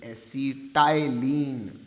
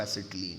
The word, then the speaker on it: acetylene: ACTYLENE, ACETYLENE, एसिटाइलीन। Spelling ऐसे पढ़ रहा हूँ, बल्कि पढ़ते इसको एसिटिलीन है।